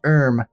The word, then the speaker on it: herb: yes just like her only Herm is actually pronounced erm just I didn't want to I didn't want